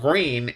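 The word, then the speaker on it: Gruene: are absolutely phenomenal but the town is called green and it's not spelled like the color green like G re e n it's spelled g r u e ne e if I remember correctly green g r u NE e so the little town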